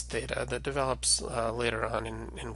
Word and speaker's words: theta: The next letter we have going in order is theta.